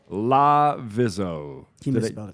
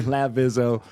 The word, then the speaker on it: Lavizzo: and our guests today Aubry La vizo I still said it wrong I knew I was lavizzo lavizzo that's right there we go Aubrey lavizzo who I knew over